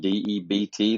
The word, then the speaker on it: debt: you could go into debt it's spelled d-e-b-t the b is silent you go into debt